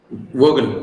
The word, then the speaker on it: Vogel: Vogel, V-O-G-L, Vogel. Some people used to pronounce that as a Vogel.